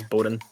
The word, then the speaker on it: Boden: I think I'm supposed to pronounce this Boden.